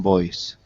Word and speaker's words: Boise: simple company a privately held company based in boise boise boise is you would know that unless